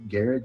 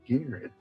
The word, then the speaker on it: Garrard: commercial and it was it was called it's garrett county and like it starts with like the